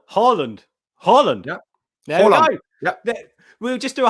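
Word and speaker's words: Haaland: you with that one it's instead of ha it's harland holland yeah we'll just do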